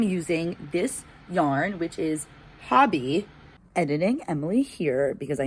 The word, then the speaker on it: Hobbii: And they were like, it's Hobby. It's a common misconception. So I'm here to tell you guys, it's unfortunately, we're all wrong. It's not Hobie. It is pronounced like Hobby.